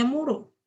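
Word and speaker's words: 室: Kita taunya ini bacanya Shitsu di sini, tapi ternyata bacanya Muro ya.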